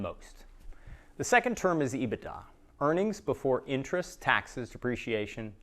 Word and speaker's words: EBITDA: hands get to know this term it's usually pronounced ebitda it's likely that everyone involved in your deal